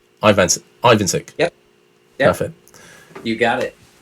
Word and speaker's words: Ivancik: Ivancik. Ivancik. It's I, Van, and. Ivancik.